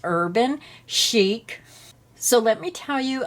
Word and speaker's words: Urban Chic: Now I called it Urban Chic and I was told it's pronounced Urban Chic.